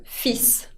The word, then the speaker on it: fils: va a llevar S y además esa S se pronuncia. Así que es una palabra muy particular y también lo que pasa es que la L no se pronuncia. On prononce le fils, sin L, con S.